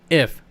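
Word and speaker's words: GIF: Let's settle our differences and realize that it is pronounced if. How about we just go with the G is silent. It's pronounced if.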